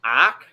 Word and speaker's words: OCC: champs what is he it'll be occ pronounced ack orange county zach love the energy